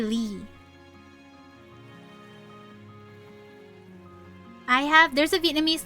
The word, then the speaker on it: Ly: And that is a that is a Chinese origin last name and it is still pronounced Lee in Vietnamese for us anyway.